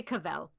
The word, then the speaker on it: Cavell: or whatever you want how do you say it I say kavel Cavell yeah please help me